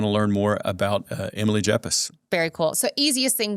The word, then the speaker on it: Yepes: It's Y as in yellow, E P as in Peter, E S, but it's pronounced like a J because I married a Colombian and that's that's what they do.